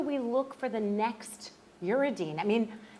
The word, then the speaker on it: uridine: How do you say uridine?